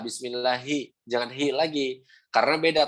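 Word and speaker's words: بسم الله: Yang kedua, Bismillahi. Nah, huruf H itu harus jelas. Kebanyakan dari kita kalau misalkan menyebutkan huruf H malah jadi pelan dalam lafaz Allah. Contoh yang salah nih. Bismillahi hi gitu. Nah, jadi melemah hi padahal harus tetap ada power. Ha hi. Nah, gitu. Bismillahi. Nah, bismillahi. Begitu. Hi tetap hi, jangan bismillahi.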